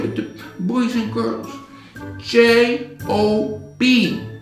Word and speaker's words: Job: J-O-B. It's pronounced Job.